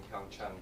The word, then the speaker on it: PyeongChang: But we're really excited, and we're gearing up for the Olympics in PyeongChang, because that's how they're pronouncing it, by the way.